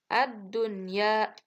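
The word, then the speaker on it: الدنيا: Yang ketiga ad-dunya.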